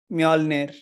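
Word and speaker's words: Mjölnir: of Thor's hammer exactly Thor's hammer is mjolnir this is where you pronounce j as a y basically this and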